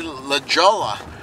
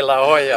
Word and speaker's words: La Jolla: But you notice they don't say La Jolla. That's right. They say La Jolla. La Jolla.